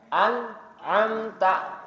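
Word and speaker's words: أَنْعَمْتَ: Alif dulu baru Ain cara bacanya gimana sih bedanya Alif sama Ain kalau baca Alif itu mulutnya harus dibuka an ya An kalau Ain itu baru mulutnya bukanya sedikit tipis am nah beda Alif sama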